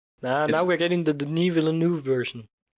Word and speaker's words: Villeneuve: we're getting the denis villeneuve version Villanueva didn't oof I think it's pronounced Villeneuve I know I'm just